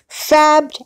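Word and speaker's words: Fabed: Now, she pronounces it as Fabbed, even though there's one B in it. I would have said Fade, but the channel person says it as Fabbed, but it's F-A-B-E-D. She says Fabbed Hacks, okay?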